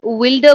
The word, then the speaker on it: wilder: Earth's wilder broods or No, Earth's uh, wilder broods? much more wild, wilder.